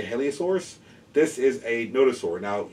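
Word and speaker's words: Hylaeosaurus: This guy is 2009 Collect A, and the name is spelled H-Y-L-A-E-O-S-A-U-R-U-S. I would say Heliosaurus.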